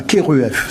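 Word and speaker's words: Kheruef: sur une tombe voilà keruf ça s'écrit kherf d'aller voir ces scènes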